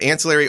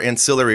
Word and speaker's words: ancillary: And everything I've looked up actually says that ancillary or ancillary are actually both okay. Either pronunciation's fine. Caribbean. One is more British in nature, and the other one is how we say it here in America, which is ancillary.